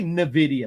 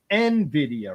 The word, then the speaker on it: NVIDIA: There's no I between it there. It's just N and NVIDIA.